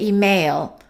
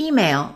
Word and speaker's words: email: The first syllable is stressed. Some people make a mistake and they say email. and it's supposed to be email.